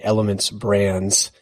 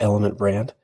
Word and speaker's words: Elements Brands: Alessandro is headquartered in elements brands very important to pronounce the essays on both of those if you want a really drive bill crazy called element Brant it's a lot of